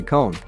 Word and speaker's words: Cohn: this gentleman, it's Gary Cohn. At least that's how his last name is pronounced on Bloomberg.